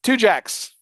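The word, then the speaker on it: Tujague's: What do you How do you say this? It's two jacks. Only in New Orleans. Two jacks. That's how you say it.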